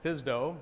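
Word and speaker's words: FSDO: flight standards district office the FS do that we all pronounce Fisto right you pronounce acronyms and so the FAA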